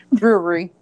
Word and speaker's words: brewery: So when I say brewery, I really have to pronounce it because it's like brewery. Brewery. It's like jewelry.